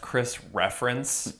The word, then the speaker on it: Chris Ference: just kidding um and by the way it's pronounced Chris reference okay but that's cool did he work a